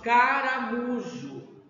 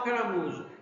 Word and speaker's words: caramujo: expressão maior por exemplo se falamos caramujo né a parte mais forte é o mu vamos chamar o caramujo caramujo E isso acontece porque